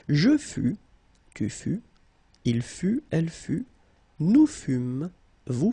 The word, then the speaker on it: fut: Il fut, final T not pronounced. Elle fut. Okay, so basically you get only one phonetical form here, and it's fut, fut, fut, the same.